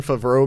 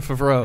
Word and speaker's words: Favreau: It's either the fact that John Favreau makes an appearance in it, That was an interesting syllabic emphasis there. or John Favreau. How do you pronounce his name? Favreau.